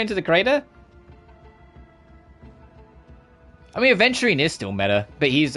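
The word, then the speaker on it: aventurine: There you are adding that D again. It's a venturine is in the gem. Please. You're still adding the D. It's spelled adventurine. You don't There's no D in adventurine cuz it's the gem.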